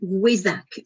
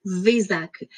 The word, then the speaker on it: Wesak: Mais la pleine lune donc, du Taureau, principalement la plupart du temps en mai, c'est ce qu'on appelle la fête du Wesak ou Vesak. Ça s'écrit W-E accent aigu, S-K, Wesak ou Vesak.